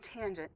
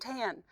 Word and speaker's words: tangent: This is sine, cosine, and tangent. It is not sin, cos, and tan, all right?